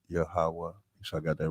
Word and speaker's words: Yahawah: we would say Yahawah and we would spell it Y a H w a h Yahawah sure I got that